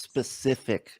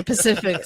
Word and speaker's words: Pacific: It's pronounced Specific Ocean. So. Oh, sorry, Pacific.